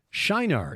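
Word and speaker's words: Çınar: Anyway, this location in southern Turkey is Shinar. It's just spelled with a C with the circumflex below it. C circumflex I-N-A-R.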